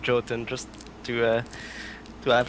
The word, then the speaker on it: Jotun: either apparently no uh I know the correct pronunciation is yon but uh we made the decision early on to call it Jon just to uh to